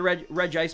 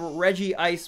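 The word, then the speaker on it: Regice: I get people are complaining about the Reg Ice pronunciation, but pronunciation of Regi Ice was said in 8th movie and Battle Revolution.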